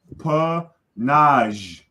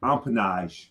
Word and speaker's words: empennage: The first N is silent, and the last E, it's not down here. See, phonetically, right? Empennage. So that first N is you don't see it. So when we write the word, we write it with the N and the E. But when we pronounce it, we don't. Those are silent.